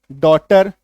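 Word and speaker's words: daughter: ठीक है, तो ये देखिए उच्चारण क्या बन जाएगा, ए यू, यही ए यू जो है आपका क्या बन जाएगा, ऑ, ऑटम, ऑटोमेटिक, टॉट, है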